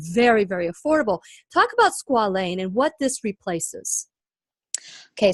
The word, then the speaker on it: squalane: that's a serum called squalane. Is it squalane? Yes, Am I pronouncing that correctly? Perfect.